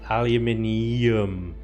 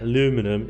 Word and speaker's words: aluminium: There's an I after the N. That's why we pronounce it the way it's spelled. Aluminium. Right? The way you say it, aluminum, is just lazy.